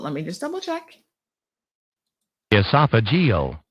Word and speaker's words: esophageal: it's esophageal but let me just double check esophageal esophageal which is part of esophagus yes esophageal cancers